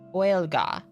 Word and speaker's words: Gaelic: And I can at least say Gaelic. Whale like quail, ga. Or Gwaelin. Those are the two main pronunciations depending on the region. Gwaelga. Okay.